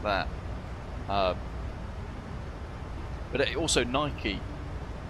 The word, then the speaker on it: Nike: But also Nike. Nike and Nike pronounced very differently.